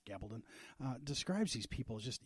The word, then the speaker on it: Gabaldon: uh Diel G Gabaldon I think it's pronounced Gabon uh describes these people